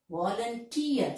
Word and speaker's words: volunteer: Then, career, volunteer. So, the last syllable is stressed.